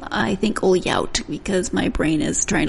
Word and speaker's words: Ohlhaut: Do not pronounce it like you're trying to learn Portuguese. Ohlhaut and his daughter Grace Lai. Let me explain the Portuguese comment. The LH sound in Portuguese is a Lia sound, and that's not correct.